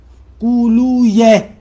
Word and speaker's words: قولویہ: قانون یہ ہے کہ اگر وی آخر میں ہو، جیسے مثلاً ابن قولوی، تو ان کو یوں نہ پڑھے وی، یہ تلفظ غلط ہے، سیبویہ نہیں ہے، سیبویہ قولویہ، ایسے پڑھے، درست ایسے ہے.